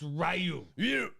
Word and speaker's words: Ryu: Ryu, it's Rayu. Rayu. Everybody else is pronouncing it wrong.